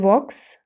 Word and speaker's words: walks: He walks to work. В сполученні AK L не вимовляється.